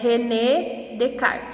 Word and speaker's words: René Descartes: 300 anos na frança a pronúncia de rené descartes é renée de kart e ficou muito conhecido